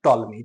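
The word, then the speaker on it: Ptolemy: Starting है पी से और प्रोनाउंसिएशन है टी से, विच इज टॉलमी। ठीक है, अभी तक आपने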